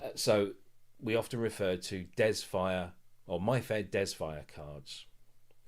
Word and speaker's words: DESFire: So instead of my fair, it was mare dees fire. No, I wanted my fair desfire. So I'd have to type in my uh fair f a i r. Yeah. And then dezz fire. So de e zyphen fire and that's a